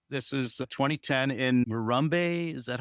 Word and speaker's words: Morumbi: This is a 2010 in Morumbi, is that how you say it, stadium? Yeah, Morumbi stadium.